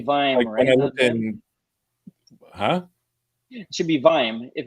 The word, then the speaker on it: vim: it should be vine huh it should be vime if it's vi and you add another then